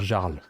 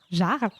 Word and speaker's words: Jarl: de types de prononciation moi j'ai tendance à dire jarles jarles oui j comme ça comme ça s'écrit j'ai J a r